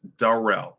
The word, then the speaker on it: Darrell: good fam it's pronounced Darrell like Darrelle Revis Rivas Island like Darrelle Revis from the New York Jets okay what's good thank